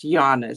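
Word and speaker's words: Jana: from lvia my daughter-in-law her name is spelled Jane they're German and um it's also pronounced Yana so I find that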